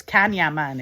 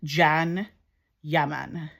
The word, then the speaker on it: Can Yaman: It's called Jan, but it's spelled C A N. So it's Kanya Man if you're like looking at it. Kanyaman from Scotland, but it's actually pronounced Jan Yaman, obviously.